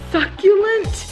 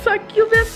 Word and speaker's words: succulent: And I showed the succulent things that I bought and for the window in the kitchen. And I kept saying it wrong. I was calling it a succubus or something.